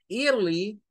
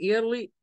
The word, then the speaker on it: early: podemos decir I my early I my early ojo no estir no se dice porque esa ir no suena a ir suena creo que ya